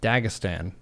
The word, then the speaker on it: Dagestan: Dagestan? Or is it Dagestan? Dagestan. I think Dagestan is correct. Dagestan.